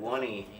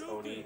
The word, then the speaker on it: Oney: I always pronounced that Oney. Yeah, I did too, but no, it's Oni, because his name is O'Neill, so yeah.